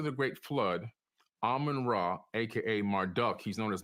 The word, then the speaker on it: Marduk: After the Great Flood, Amun-Ra, aka Marduk, he's known as Marduk in the Bible, M-A-R-D-U-K. Some people say Marduk, depending on how you want to pronounce his name.